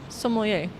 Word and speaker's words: sommelier: apparently there's a robot sommelier. I'm probably not pronouncing that word correctly. I have a French person in our team, Corentin. Am I pronouncing that word correctly? Sommelier. Oh, I am.